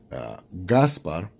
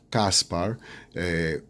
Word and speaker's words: Gaspar: Gaspar, some people call him Caspar, either with a C, K, and then in Spanish it's with a G.